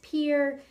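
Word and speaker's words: Pierre: Mount Rushmore State uh the capital is pronounced Pier the motto is under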